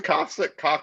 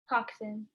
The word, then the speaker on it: coxswain: You don't throw the coxic, how do you say it? Coxic? Is that right? Coxswain. Coxswain.